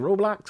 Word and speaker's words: Roblox: from K&N news affiliate uh Dexter toe um roblock how we pronounce it Roblox roblo hold up this is we're not talking